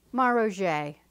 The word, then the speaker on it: Maroger: which I went oh I didn't pronounce that right did I it's like saying Bou okay you fill in the blanks Maro don't mess that up Neo megilp that's